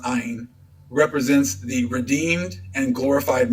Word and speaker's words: Ain: dwell in this myth john and eon and ein three forms of the word and all pronounced ayin represents the redeemed and